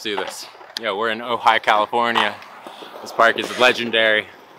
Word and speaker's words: Ojai: know on the accent it says oj yeah it doesn't say oh hi but it's pronounced so high just tell you guys yeah facts alright two let's do this yeah we're in ojai california this park is